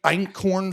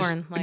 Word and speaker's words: einkorn: we started talking about just this week einkorn flour. Are you guys familiar with einkorn flour? I don't know how to pronounce it. EINKORN. No. Einkorn. I thought it said It is elkhorn. no, it's not elk.